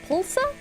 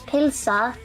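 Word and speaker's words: pylsa: to be like, um, so I usually say pulsa. I know that's the wrong way to say it. So that's how we say hot dog. Pulsa or pulsa. Um, but like the the correct way to say it in Iceland is pila.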